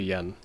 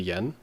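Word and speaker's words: 円: think it's this n so this is actually yen this is one of those cases where the english pronunciation went from n to yen i don't quite know why but if you do say this in japanese then it's actually n and not yen and then we end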